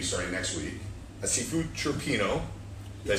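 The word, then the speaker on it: cioppino: A seafood chirpino. Did I say it right? Seafood chirpino.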